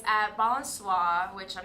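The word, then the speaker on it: Balançoire: And that's spelled BALENCOISE? BALANCOIRE.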